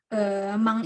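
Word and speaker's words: 万: Tapi meskipun gitu, cara baca yang paling benar adalah mang.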